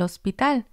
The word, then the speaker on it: hospital: Yo voy al hospital. I go to the hospital. The H is silent in Spanish.